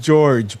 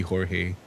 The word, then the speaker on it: Jorge: Waid and art by Jorge Jiménez. Truth, Justice, and Great Responsibility. I mean, yeah, yeah. It's pronounced George, but I'm gonna let it go because it could be Jorge.